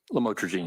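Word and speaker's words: lamotrigine: lamel otherwise known as lamatroine. Did I pronounce that right? Lamotraine. Yes.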